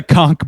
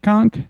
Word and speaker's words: conch: I typically say conchk. Conch shell. Yeah. Conch. I think it's either way, but like I just like I was not that thought.